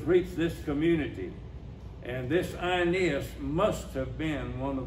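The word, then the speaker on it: Aeneas: man named IAS actually where you see an AE in the Latin and in the Greek it pronounced I IAS he was paralyzed and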